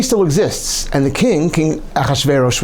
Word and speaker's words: Achashverosh: Haman is killed, but the decree still exists, and the King Achashverosh, we call him, Ahasuerus, I've heard it's pronounced also, but Achashverosh, tells Mordechai and Esther,